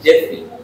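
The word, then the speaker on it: Geoffrey: এই উচ্চারণটা আমরা জিওফ্রে বলি, উচ্চারণ হয় জেফ্রি, জেফ্রি চসার।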